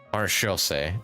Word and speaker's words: Maréchaussée: Maréchaussée.